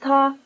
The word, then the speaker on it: 他: In this century, under Western influence, the written language has begun to use different written characters for he and she, but both are pronounced ta.